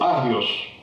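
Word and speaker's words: ἅγιος: La palabra que encontramos en el griego lectura del Nuevo Testamento esos o agios, si no se pronuncia la la H.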